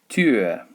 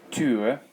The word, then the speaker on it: Tür: Die Tür. Die Tür. Tür. It's not a double O sound. That would be Tür.